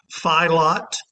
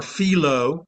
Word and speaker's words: FILOT: this by passing um depending on whether you want to pronounce it as if it were French or not filot or felo f i lo t